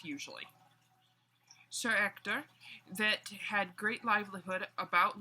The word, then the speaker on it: Ector: ditch and quick sidenote sir Hector in this book is spelled with an e alright because in French H is silent usually Sir Ector that had great livelihood